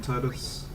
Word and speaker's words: Tidus: Yeah, I know his name's pronounced Titus, but I'm just bad at remembering.